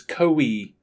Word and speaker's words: Koei: How do you pronounce this again? It's Koei.